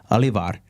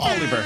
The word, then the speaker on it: Oliver: better person to talk about leadership is olivar that we have here with us today did I pronounce it right Oliver Oliver so close but he's here with us